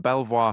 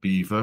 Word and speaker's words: Belvoir: is except in leester it's pronounced Beaver because in the Middle Ages no one could pronounce the French word Belvoir and therefore I think